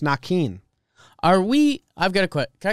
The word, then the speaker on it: Naquin: Naquin. Next. Yep. Okay, here's something. His name is pronounced Nakin.